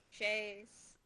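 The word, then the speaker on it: chaise: I think I don't know how to say the plural, but the singular is shay, like a shay lounge Oh.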